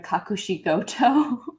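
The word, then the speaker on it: Kakushigoto: that and then i'm also a character in kakushikoto all these names that's super super easy to pronounce i mean okay is that a funimation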